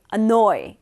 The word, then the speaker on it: annoy: 이까 깔끔해요 이 노예 강세가 있어서 언어의 이렇게 발음 해주시는 거죠 아 짜증나게 하다 안노 어의 아 노 의 안 너의 이렇게 기억하세요 1 오라고 했잖아 안 너의 짜증나게